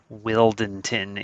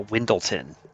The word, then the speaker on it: Wyldenten: do i say this wildenton is how you're supposed to say his name that's probably not going to happen right i'm trained to say this wrong i call him a windleton is what i call them so i'm going to